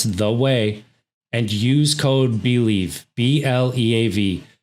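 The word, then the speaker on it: OUAI: th e o u a i dot com pronounce the way and use code believe b-l-e-a-v to get 15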